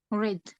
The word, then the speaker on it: read: okay uh do we do we pronounce it read or red red I think red why why is red not readed because past simple very good so because